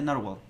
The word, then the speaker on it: Nrwl: Oh, Narwhal, ya, como el animalito. Ok, perfecto. Se pronuncia Narwhal, gracias.